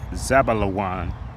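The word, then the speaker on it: זְבוּלֻן: And in the Hebrew is pronounced Zabalawan.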